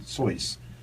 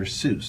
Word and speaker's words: Seuss: hearing me pronounce it sois that's the way it's pronounced we know him as dr seuss that's what the public but it's actually from what i understand pronounce soy right with that in